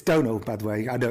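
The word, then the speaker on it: Domhnall: And neither did Donald Gleason. It's Donald, by the way. I know it's a really hard name to pronounce.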